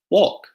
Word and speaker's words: walk: is it Emma look exactly the silent L so not walk or Salman or calm no walk salmon some other examples might